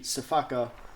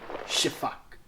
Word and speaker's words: sifaka: to call it the spaka many of times solely because I'm reading it off of a piece of paper but yes technically speaking it should be pronounced the shiak which actually leads into